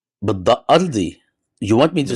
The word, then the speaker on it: Ardi: أرضي يعني بالضاد. Ardi. You want me to say بالضاد أرضي Ardi? يعني. Oh, عظيم. شو do I want to هذا اسمي يعني. أنا Ardi. فلسطيني. I mean, Ardi.